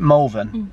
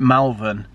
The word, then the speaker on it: Malvern: last time is it malvin yeah right last time i went there i called it melvin and everyone from malvin went mental rightfully so because it's